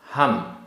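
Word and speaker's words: हं: ते, ते, चिय, आधा चा पूरा चा, चिय, भणामी, भणामी, हम, हा में बिंदी, हम, हा और मा वाला हम नहीं है, हा में बिंदी वाला है, हम।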